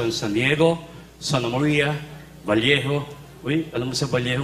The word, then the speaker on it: Vallejo: pag double L, ang pronunciation niyan, Vallejo. Oh. Bakit Vallejo? Kasi double L eh.